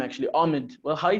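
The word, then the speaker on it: Ahmaud: don't know how to say his name actually almond well hi say his name um almond almond yeah I mean he got shot recently my my Rashad Ahmad Ahmad it's Ahmad yeah he got shot recently and the fact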